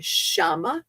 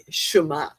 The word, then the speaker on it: Shema: It's spelled SH''MA, Shema. Maybe that's the correct pronunciation. It's been years.